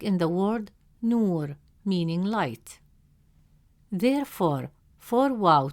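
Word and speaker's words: نور: In the word nur, meaning light, the letter nun has a damme vowel, which gives it a short oo sound, pronounced as nu. Since the long vowel wow comes immediately after nu, it stretches the short oo sound into a long oo sound. Instead of pronouncing it as nu, the presence of wow makes it nu. As a result, the correct pronunciation of the word is nur, nur.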